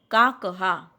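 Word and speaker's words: काकः: Crow, काकहा. When I am saying काकहा, ha should not be written as h la kanha. No, it is विसर्ग to be pronounced.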